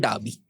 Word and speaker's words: Derby: जगह का नाम है डाबी jail. डाबी jail. डार्बी, DERBY, बट डार्बी jail. British pronunciation में उसको डाबी कहते हैं। डाबी। हाँ। हम लोग इंडिया में डर्बी कहेंगे उसको।